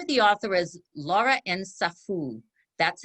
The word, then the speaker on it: Nsafou: Okay, this particular book, Comme un million de papillons noirs, the name of the author is Laura Nsafou. That's how they pronounce her name.